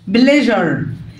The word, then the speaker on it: pleasure: S-U-R-E هتتنطق جر pleasure.